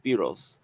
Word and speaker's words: Spyros: I Yeah, Spyros. His the brother's name is Spyros. Spyros. Spyros. Spy. Yeah. Well, I think it's pronounced Spiros. S Y R O S.